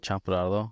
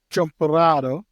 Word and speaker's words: champurrado: I think it's pronounced like champurrado. I just can't roll my R's, so it's kind of I fuck it up every time.